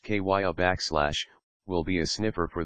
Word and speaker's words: Kiah: Kiah, pronounced Kiah, will be a sniffer for the Poughkeepsie Police Department, used to detect drugs and track missing people.